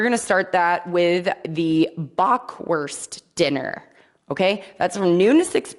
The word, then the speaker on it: Bockwurst: at the lindenhof I didn't mess it up it I messed up every other word I just said but not bockwurst bockwurst is how that's pronounced anyway so full dinners will be offered